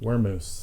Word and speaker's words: Wurmoose: definitely spell it because it's not like it sounds. It's Right. WURMOOSE. Wormoose.